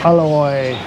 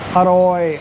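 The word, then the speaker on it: อร่อย: to say the word tasty aloy or the correct speaking version or central thai is haroy aroy you kind of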